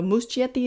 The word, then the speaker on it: Muschietti: own last name, so Muschietti it is. That is apparently the Spanish pronunciation, and he's from Argentina, so we're going with it.